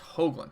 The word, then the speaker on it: Hoogland: Closer to Hoogland? What? It's Hoogland.